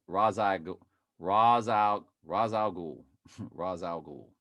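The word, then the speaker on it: Ra's al Ghul: out raz al ghul raz al ghul that's pretty much how you pronounce it well raw the a.i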